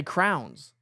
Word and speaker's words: crayons: Do you How do you say crayons? I say crayons. My wife and my youngest son say crowns. Say what? Crowns. What are crowns? They're crayons. C R A Y O N.